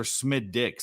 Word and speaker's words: Smithwick: SMX who says Smithwick it's SMI it's smiix or smid dick it's it's it's either one of the two that you do not pronounce the h if you pronounce the h you get punched in the face no here we go